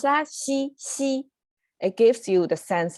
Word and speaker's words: 兮: It's, by pronounce that, xi, it gives you the sense of you're really trying to release tension because this is too much tension.